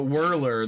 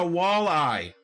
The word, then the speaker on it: walleye: no whirler all day you know whirler that's the one that gets me like say it right please it's a walleye wall eye enunciation yeah anyway y'all